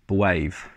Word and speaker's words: B'Wave: bits in there um he is pronounced the wave as in you're a wave person so yeah so uh